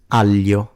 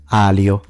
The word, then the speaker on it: aglio: Tagliatelle, figlio, famiglia, maglia, gli, which is different from l, aglio, not alio. Now, in the south, this tends to be simplified as a Y sound, so it becomes aglio, famiglia, aglio, tagliatelle.